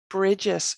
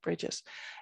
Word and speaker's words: Brigit: describing the meanings of words and terms so bridges is how i would still pronounce that if you were going with the